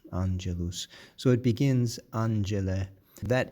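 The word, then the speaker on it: angelus: The word for angel in Latin is anelus. Anelus.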